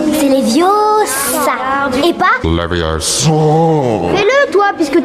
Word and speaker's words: Leviosa: Et puis d'ailleurs, tu ne sais même pas le prononcer. C'est Leviosa.